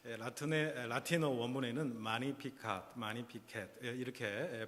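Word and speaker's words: Magnificat: 마리아의 참가라고 불려지는 아주 유명한 대목이기도 합니다 더 매그니피캣츠라고 빌려주는이 마리아의 참가 영어 그대로 뭐 이렇게 불리기도 합니다만은 사실은 이게 라틴어에서 나온 유래된 말이기 때문에 발음의 문제이지만 라틴 라틴어 원문에는 많이 피카 많이 피켓 이렇게 발음을 하게 됩니다 46절에 보시면 내 영혼이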